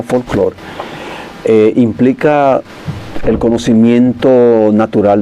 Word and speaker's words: folklore: Tú sabes que que la palabra folklore, que se escribe folklore y se pronuncia folklore, eh, implica el conocimiento natural de los pueblos.